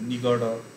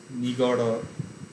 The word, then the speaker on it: নিগড়: ড উচ্চারণ হয়, কিন্তু সেটা যদি শব্দের শেষে বা মাঝে থাকে সেটা ড উচ্চারণ না হয়ে র উচ্চারণ হয়, র।